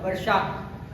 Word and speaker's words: वर्षा: वर्षा नहीं होता, वर्षा, प्रोनाउंसिएशन अच्छा बनाइए, वर्षा, वर्षा।